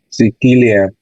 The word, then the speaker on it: Sicilia: ¿Dónde está el acento? Sí, Sicilia. ¿En qué sílaba está el acento? ¿En Sí. sí, en ki, en li o en am? En que En ki, correcto, en ki, ¿verdad?